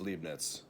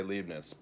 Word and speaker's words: Leibniz: Now I always say Leibniz, sometimes I'll say Leibniz, because Leibniz and Leibniz has various spellings with or without a T before the Z, and various pronunciations over time and in various accounts.